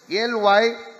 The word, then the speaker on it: Lysimachus: The northern one went to Lysimachus, L-Y-S-I-M-A-C-H-U-S, Lysimachus.